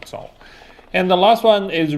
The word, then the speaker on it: 走: Sorry, it's a third tone, 走.